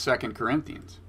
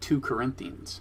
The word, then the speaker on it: 2 Corinthians: does and unlike Trump she knows how to pronounce second Corinthians well yes yes she doesn't she doesn't call it 2 Corinthians that's correct and so